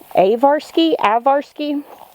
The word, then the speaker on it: Ajvarski: Oh, someone told me I was saying it wrong. Avarsky. It's spelled like Ajvarski.